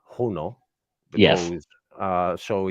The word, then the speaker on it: Juno: a lot of things so we sent uh huno is how it's pronounced huno because uh so it's it it is the